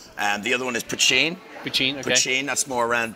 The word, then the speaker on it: poitín: pot okay so it's poaching hachi hachi and that's the way to say it up in Northern Ireland yeah and I make my poaching in Northern Ireland it's